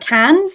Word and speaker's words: Cannes: that's can it's spelled cans c a n n s but it's pronounced can because it's French so you can find